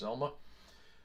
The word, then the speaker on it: zlma: Hi, I would like to talk about a new piece of free software called ZVM in Linux Modern Administration, or zlma, possibly pronounced Zelma.